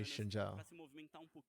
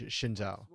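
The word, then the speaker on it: Xin Zhao: the it's funny because actually in Chinese it wouldn't be pronounced shinha no it it would be sh yeah shinha J it would be out right cuz the Z is like a j oh my God okay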